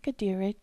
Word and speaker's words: Kateri: For example, Saint Kateri Tekakwitha's name and that of her community, KAHNAWAKE, have Mohawk pronunciations with French spellings. So for English speakers, the important thing to remember is that the letter K gets a G sound.